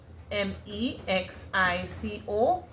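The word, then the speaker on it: México: M E X I C O which is pronounced as you know Mexico and the accent is over the E right.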